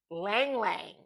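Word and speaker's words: ylang-ylang: Um, Lang Lang is spelled Ylang. Lang Lang.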